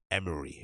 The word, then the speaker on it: Emery: releasing his name wrong it's tremaine emery right it's not emirates emery my bad uh so